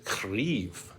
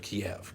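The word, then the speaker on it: Kyiv: spelling the ukraine's pronunciation the ukrainian spelling and pronunciation is krief so that's why you'll hear people at least saying instead of kiev kiev is a nod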